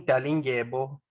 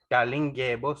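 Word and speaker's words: Dalindyebo: It's King Dalingebo, so that's DALI. DALI. Yes, Dalinge. So it's sure. This is a Xhosa name. So Ngebo is DY. DYEBO.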